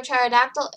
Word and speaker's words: pterodactyl: Get to a pterodactyl in the bathroom because the pee is silent.